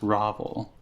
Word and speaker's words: Ravel: It's Ravel. I thought I was going to be mispronouncing your name, but I was very excited there to see how it's pronounced. Ravel.